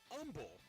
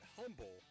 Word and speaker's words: Humble: Eagles of aaos and the neighboring Umble that's how they say it it's not Humble Texas your top five in